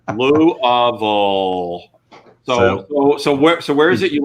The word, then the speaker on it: Louisville: Louisville. Put marbles in your cheeks. Louisville.